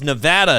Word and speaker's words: Nevada: It's Nevada is actually correct, right?